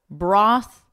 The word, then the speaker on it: broth: A moth is not a moth in mother, nor both in bother, broth in brother.